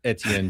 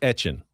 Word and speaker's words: Etienne: I mean, you all know Travis Etienne Jr., right? Yes. He said today, that's not how you say my name. Travis Etienne.